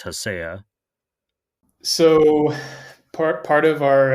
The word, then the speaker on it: Hacea: I say haya. A lot of people say ha. It's kind of whatever whatever flows.